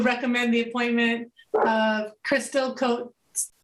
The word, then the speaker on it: Coates: To recommend the appointment of Crystal Coates. Am I pronouncing it right? Coates Stokes? To the Council on Aging. Go ahead, say it. It's Cote-Stos. Thank you, Cote-Stos, to the